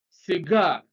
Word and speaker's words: cigar: on the first syllable B cigar stress is on the second syllable 44 a colleague stress